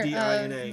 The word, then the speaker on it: Adina: Her name is Adina. Hang on. Okay, so How do you spell it? you're A-D-I-N-A.